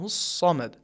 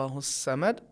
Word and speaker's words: الصمد: جیسے ادا ہوتے ہیں، لیکن عربی میں حرف صاد کا تلفظ بھاری آواز کے ساتھ ہوتا ہے، اللہ الصمد۔ لہٰذا اس کو اگر ہم سین کے طریقے سے نازک آواز سے پڑھیں گے اللہ الصمد، یہ صحیح نہیں ہے۔ اور یہی حرف ہے